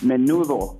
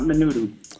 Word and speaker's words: Manubo: Raider Dave was invited out to that and it's pronounced Manubo, not Manudu.